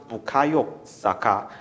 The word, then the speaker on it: Bukayo Saka: he has Nigerian heritage and his memory it's pronounced Ohio Sokka not everything that's the commentators in England actually